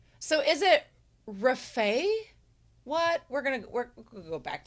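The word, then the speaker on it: Rafał: The correct way to spell it is, they have Rafal, but the L looks like a special character that looks like a little almost italic T or an uppercase L with like a little T line through it, which is pronounced the way as in W, as in wait.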